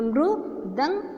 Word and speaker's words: मृदंग: तो म को रू की मात्रा लगा दी, जो मृ दंग बन गया। इसे हम किस तरह से उच्चारण करते हैं?